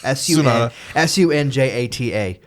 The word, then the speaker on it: Sunjata: Played by Daniel Sunyata, I think is how you say his last name. Sunhata. It's a J. After the... Or Sunhata. Sunjata, if I remember the opening credits correctly.